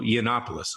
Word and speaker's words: Yiannopoulos: a speech by Milo Yiannopoulos. Always hard to pronounce it. It's Greek. He was writing for Breitbart at the time.